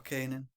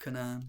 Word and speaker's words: Canaan: That is the land of Canaan or Canaan. It's spelt Canaan, so that's how I say it. But it's popularly said to be called Canaan.